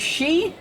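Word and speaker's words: 四: and Japanese is pronounced one of the ways four is pronounced is she which is also the way death is pronounced which is she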